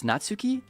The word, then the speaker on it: Natsuki: Do me a favor, Joe, and pronounce Natsuki in the same Natsuke. Oh, in the same Sasuke.